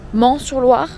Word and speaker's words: Meung-sur-Loire: essayer les visiter un château de ment sur Loire ça s'écrit Mingue et après on va